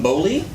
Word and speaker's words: Boley: And this week we got our buddy John Boley.